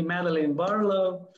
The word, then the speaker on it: Madeline Barlow: have a very nice lady special guest today madeline barlow is that pronounced good yes it is okay first tell